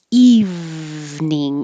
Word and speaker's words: evening: in the evening and evening is two syllables not evening eve like this evening he